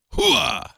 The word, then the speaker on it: Hoa: I believe that's pronounced Hua.